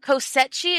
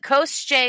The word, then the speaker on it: Koschei: They say Koschei, but we say, so Kosechi is how I originally said it, but Koschei is how you actually are supposed to pronounce it.